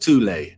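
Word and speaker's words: Thule: called the th Society sometimes alternatively pronounced tulle that had subactions within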